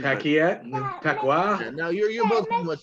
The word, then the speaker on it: Paquette: niko um renee paquette pacquiao i don't know how you would pronounce it because french canadian pacquiao now you're both pretty